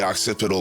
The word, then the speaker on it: occipital: octave octipital acapell okay Google how do I pronounce octipodal lobe just say it thank you a section that we call the occipital lobe and we still don't know how it